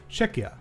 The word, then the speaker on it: Czechia: The Chia is pronounced like Kia. Okay, cool. Czechia.